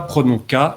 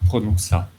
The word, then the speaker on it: prononça: C'est une lettre muette adscrite qui dit ne dites pas prononca, mais dites prononça.